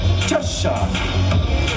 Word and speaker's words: Cheshire: I was told to pronounce it correctly. Cheshire.